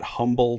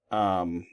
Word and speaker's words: Humble: You probably want to call that Humble, Texas if you are not from the area, but that's actually Umble, Texas. They don't pronounce the H. So this is Um, Texas. Um, at least anybody that I've ever met that's from there.